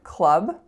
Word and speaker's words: club: sound our second word Club it is spelt of course with the letter U but pay attention to the sound of the vowel it's an a sound as an up so many of my